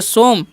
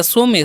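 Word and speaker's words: some: आगे लिखा हुआ है एस ओ एम ई। तो इसे हम क्या पढ़ेंगे? सोम या सो में। सो में नहीं पढ़ना है ना सोम पढ़ना है। क्या पढ़ना है? सोम पढ़ना है। क्योंकि वही वाला रूल लागू होगा। वोवेल ओ एम कंसोनेंट और इ वोवेल।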